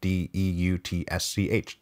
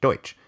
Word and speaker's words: Deutsch: named AF Deutsch and I'm sure I'm mispronouncing that but that's his name de UT s CH Deutsch so I'm gonna say Deutsch Deutsch who was five